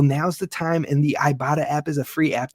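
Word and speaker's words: Ibotta: talk to you about our friends over at ibata that's right it is pronounced ibata but it's spelled iBot TTA and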